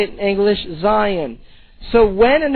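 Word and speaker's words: scion: It is spelled in English S-C-I-O-N, which is related to the Hebrew word zion. So the term for when the graft actually takes place is zion, or we more commonly say it in English, Zion.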